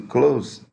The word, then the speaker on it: close: reparou que eu destaquei o s aí do Close ele tem som de z então quando é